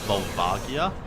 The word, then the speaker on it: Volvagia: way o um yeah I pronounced it vagia but you're probably right it probably is volvagia just I always pronounced it um with the soft G I I used to